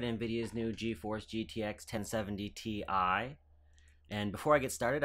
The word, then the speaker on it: Ti: talking to somebody at Nvidia about how it's pronounced TI versus ty because it's titanium it's easy to understand maybe